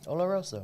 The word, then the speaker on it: Oloroso: It means scented in Spanish, so it's Oloroso. Oloroso. Thank you. That's what I have him around for, folks. I can't pronounce crap.